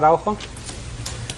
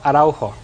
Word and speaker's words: Araujo: Araujo. Slower. Araujo. Spell it. A-R-A-U-J-O.